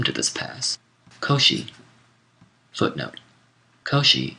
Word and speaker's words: Koshi: this pass Koshi footnote Koshi is the Japanese pronunciation of the name of the Chinese philosopher kungu or Kung vuu whom we call confucious end of footnote and